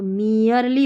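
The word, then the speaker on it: merely: इ आर ई को year पढ़ते हैं। तो मियरली हो गया। तो ठीक है? यह नियम में मैंने सिखाया था। ई आर ई का ही स्पेलिंग में ईयर करके पढ़ा जाता है। तो यह मियरली है।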